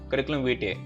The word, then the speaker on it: Curriculum Vitae: But the right pronunciation is Curriculum Vitae.